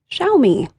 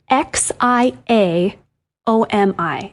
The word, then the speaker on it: Xiaomi: even say that is Xiaomi. Oh, yes. It's a tough one. It's x i a o m i. And that's just not something we have in English. It's a Chinese word.